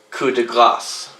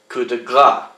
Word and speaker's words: coup de grâce: So, although the word is spelled Grace, they pronounce it as if it was spelled Gras, where the S would be silent, coup de grâce. You'll hear people say coup de grâce in English.